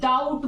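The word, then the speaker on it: doubt: जैसे आप लोग डाउट बोलते हो, ये डाउट, इस डाउट में ये बी साइलेंट है क्योंकि डाउट तो आप बोलते नहीं हो फ्रेंड्स, डाउट बोलते हो ना।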